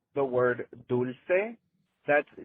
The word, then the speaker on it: dulce: If it's d u l c e, it's Spanish and it's pronounced dulce.